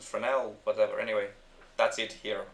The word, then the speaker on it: Fresnel: framel a Fresnel well it's written Fresnel but people pronounce it for now whatever anyway that's it